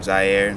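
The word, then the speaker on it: Ziere: This middle name is spelled Z-I-E-R-E, Zaire.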